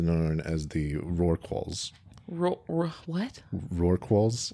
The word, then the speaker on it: rorqual: Rorquals. Rorqual?